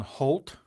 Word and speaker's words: Holt: the works it's on Holt Holt's double exponential smoothing actually rhymes with my name so Holtz spelled differently of course so h-o-l-t double exponential smoothing is